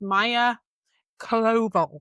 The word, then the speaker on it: Maya Koval: And her actual name is, I wrote it down and I looked up how to pronounce it because she's Danish. So her name is Maya Koval.